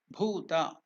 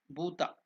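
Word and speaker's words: भूत: The pronunciation, as I told you, I explained you, bhuta. It's not bhuta. Bu, the word ba or bu is alpa prana. You use less energy. The breath energy to pronounce bu is less. But while you pronounce the same bu as bhu, you are using a little more energy.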